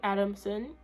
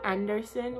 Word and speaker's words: Adamson: is adamson the last name some people misspell it and say anderson which i think is really dumb because i said adam adam adam so basically a b a m s o n adam like adam and eve adam and then